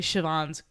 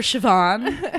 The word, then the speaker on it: Siobhan: And so Jerry is actually Siobhan's godmother in the show.